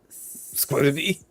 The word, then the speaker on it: SCBWI: Not that it forms a word, but it's pronounced as a word. And then NASA. So for SCBWI, it would be Squibby.